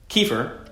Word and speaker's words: kefir: Kefir properly pronounced "kuh·feer" is an incredibly powerful probiotic fermented